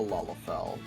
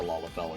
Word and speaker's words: Lalafell: So, wholeheartedly recommend the Lalafell experience. Lala, not like here, is spelled like this. Lala. Not Lola.